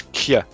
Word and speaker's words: Kjeld: going to focus on Keld here a little bit, just because MILF POV bias, you know. Also, a side note, the way you pronounce that name, right? It's Kjeld. Kjeld. Kjeld.